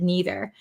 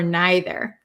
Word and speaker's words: neither: I'm from America, so I say either and neither. But people from England, British people, or some people in America too, say either or neither. So that depends on where you're from, what pronunciation you'd like to use. So both are correct.